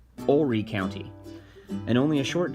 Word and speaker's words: Horry: It's important that we pronounce that correctly, Horry County, and only a short drive to one